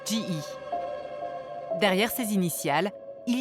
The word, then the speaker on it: GE: En anglais, ça se prononce G.